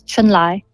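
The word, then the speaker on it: Chunlai: So the Chinese way to say it, the Mandarin pronunciation is Chun-Lai.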